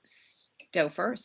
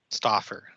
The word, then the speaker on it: Stauffer: So just formally, Stauffer. Is that the right way to say your name, or is it more Stauffer? Stauffer. Stauffer. Neither of the ways I said it.